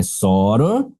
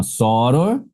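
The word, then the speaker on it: sóror: É soror, seria assim, ó, soror, com acento, tá?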